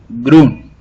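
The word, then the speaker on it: grün: Green is pronounced as grun.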